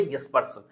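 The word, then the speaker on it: Jespersen: এটার যিনি প্রদাতা তিনি হচ্ছেন অটো ও ডাবল টি ও ইয়েসপারসন, লিখেছি জেসপারসন, উচ্চারণ হবে ইয়েসপারসন, অটো ইয়েসপারসন।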